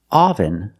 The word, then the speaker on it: oven: The pronunciation is not oven, but oven. The first syllable makes a sound like cup and up. This is a relaxed sound. Your mouth is almost closed.